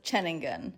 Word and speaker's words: Ceningan: Although Nusa Ceningan, we have since learned that it's actually pronounced Ceningan.